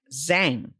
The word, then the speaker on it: Giang: That's right, because it's Giang, but it sounds like Zhang.